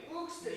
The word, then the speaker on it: Buxtehude: Buxtehude? Yeah, yeah. Am I saying it right? Yeah, exactly. Buxtehude.